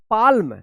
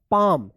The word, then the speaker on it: palm: अब देखिए यहाँ पे PALM, क्या पढ़ेंगे इसको, पाल्म, नहीं, इसको पढ़ा जाएगा पाम। यहाँ पे भी क्या है, एल साइलेंट रहेगा, इसका कोई उच्चारण नहीं होगा।